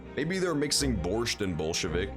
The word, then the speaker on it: Bolshevik: that into english so i'm guessing it's just like pronounced borshevik in japanese so they thought it was supposed to be bore but it's bolshevik it's bolshevik i tell